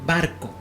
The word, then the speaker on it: barco: Por ejemplo, la palabra barco. Barco lleva el acento en la sílaba bar, que es la penúltima sílaba.